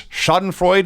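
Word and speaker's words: Schadenfreude: sympathy at all it I I believe it's shoden Freud is that how it's pronounced yeah thank you the the Pleasure in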